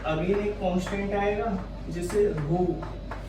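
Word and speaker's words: ρ: यहाँ से प्रोपोर्शनलिटी का साइन हटाएंगे तो अगेन एक कांस्टेंट आएगा जिसे रो, इसका प्रोनाउंसिएशन क्या होता है, इसका रो, ठीक है।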